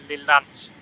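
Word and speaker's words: Lelant: Stop at platform 1 at Lillant. That's how it's pronounced.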